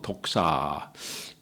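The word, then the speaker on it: δόξα: 자체가 영화의 삶이고 이 영광이라는 것은 헬라어로 독사. 우리가 스네이 돌아다니는 그 뱀을 생각하시는데 발음이 똑같아요. 독사.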